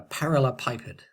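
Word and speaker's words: parallelepiped: Now what we're going to do is find the volume of a parallel pipet. Okay, that's how we pronounce this word.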